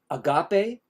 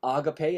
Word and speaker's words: agape: the next one Agape some people pronounce it pronounce it Agape um I pronounce it Agape I think that's how it would actually be uh pronunciated in the Greek uh language so Agape is the